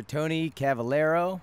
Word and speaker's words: Tony Cavalero: I'm your host, Rab himself, and I'm sitting here today with actor Tony Cavalero. Nailed it, dude. Got the pronunciation perfect.